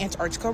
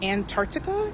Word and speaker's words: Antarctica: Also, apparently I'm saying Antarctica wrong. Antarctica. Antarctica. Like what? Mhm.